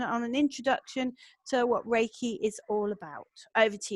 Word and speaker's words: Reiki: way it's pronounced is Reiki because it's got the Japanese underlying pronunciation it's based in ancient